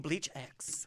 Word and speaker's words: BLEACHx: Please welcome BLEACHx. Yo, what's going on? Okay, what the hell is BLEACHx? Like, What is BLEACHx? Well, the X is silent.